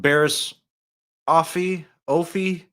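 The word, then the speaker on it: Barriss Offee: So let's move on to homegirl Barris, Offee, Barris, Offee. Barris Hottie. I is believe what we're gonna call it's her. Barris Offee, I believe is the correct pronunciation.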